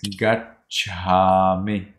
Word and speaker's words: gacchāmi: So I think Emily is confused. It is gacchami. Can you say that? Gacchami. That's right.